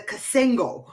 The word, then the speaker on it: cassingle: one of the bunch wait you guys say it right it's a cassingle cassingle a cassingle a